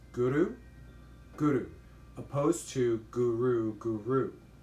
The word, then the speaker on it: Guru: And when you chant or you pronounce Guru, try to pronounce it with hitting the tongue behind the front teeth at the roof of the mouth when you pronounce the R, and you roll the R a bit.